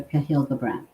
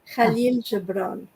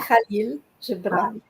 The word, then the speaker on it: Khalil Gibran: to throw out there Cahill Gibran, and I'm not pronouncing it correctly because he's from Lebanon, right? I mean, he's a Lebanese poet. Yes. He's, We say the name Khalil Gibran. yeah, Khalil Gibran.